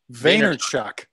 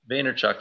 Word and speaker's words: Vaynerchuk: pronounced his name wrong today how do you pronounce a java Vaynerchuk Vaynerchuk yeah super interesting it's got some really interesting